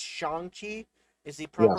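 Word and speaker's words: Shang-Chi: train i'm going to try to pronounce it's shanghi is the proper pronunciation us americans like to butcher that but it's shangji that's correct so i'm gonna try to keep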